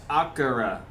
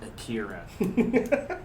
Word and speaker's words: Akira: It's pronounced Akira, not Akira.